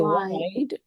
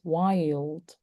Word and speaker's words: wild: So here you pronounce this as wild because I'm hearing wide. If you say wide, this is wide. Mhm. But this is wild.